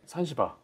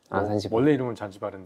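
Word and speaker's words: Sansibar: 로이에서 수입하고 있는 대표적인 산시바르 잔지바르 그냥 발음하기 편하게 예 산시바르 더넥타 어 크리스티 덜리 하고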